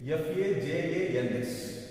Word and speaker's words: Fajans: Okay, this is F-A-J-A-N-S. Actually, this is pronunciation Fajans.